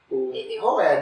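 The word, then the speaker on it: Houaiss: Então, aí, sobre o pantaneiro, o Roais, como vocês usam a pronúncia na academia? Roé, né? Roé. Minha mãe, Roais. H-O-U-A-I-S-S. Eu leio Roais, mas eu sei que tá errada a minha pronúncia.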